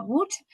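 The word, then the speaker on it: Łódź: Antes eran portales, como veremos en el caso de esta ciudad, polaca de Lot, que se pronuncia Woods.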